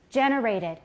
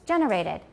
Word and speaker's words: generated: the second one is generated a lot of people make with the stress on the second syllable in American English its generated and third vocal tract